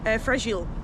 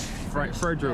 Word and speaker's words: Fragile: Fragile, like it's French. Fragile.